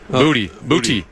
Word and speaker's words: Boutte: Well, I remember when he got drafted, there was some discussion about how you actually pronounce his last name. Booty.